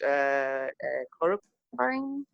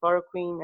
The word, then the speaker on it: chloroquine: and say, and I'm not sure how to pronounce this in English, chloroquine? Chloroquine, Yeah, how do you say?